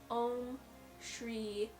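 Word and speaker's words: ॐ श्री: on the screen in a sanskrit but it's pronounced om shri so those are like three sorry four separate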